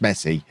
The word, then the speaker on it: Messi: to be newsworthy and i do know it's pronounced messy just for some reason i can't say it mess a i i